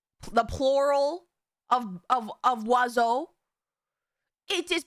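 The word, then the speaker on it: oiseau: And it's pronounced wazo.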